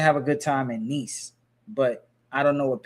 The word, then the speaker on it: Nice: Nice. It's spelled nice like nic, but it's called nice.